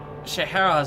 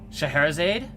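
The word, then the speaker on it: Scheherazade: mind he was like Shahara said that's pronounced shaherazade hi nice booty who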